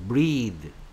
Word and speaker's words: breath: 하지만 명사형이 됐을 때는 무성음 소리, 혀가 떨리지 않고 바람만 밖으로 내뿜는 소리 breath, breath 이런 식으로 발음한다.